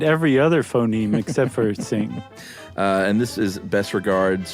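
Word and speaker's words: Qing: trouble pronouncing q-i-n-g Dynasty Q may be roughly pronounced as TS so not exactly the same so just say sing next time that would do I I didn't I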